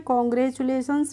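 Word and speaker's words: congratulations: TU का pronunciation हम पढ़ते हैं चु।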